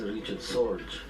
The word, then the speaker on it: Richard Sorge: The name pronounced Richard Sorge.